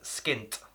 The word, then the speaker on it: skint: money to do something don't forget to pronounce the T at the end skint very important otherwise skin wouldn't make any sense moving on here now